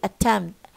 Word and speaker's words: attempt: time next time okay attempt no b no P attempt empty no p night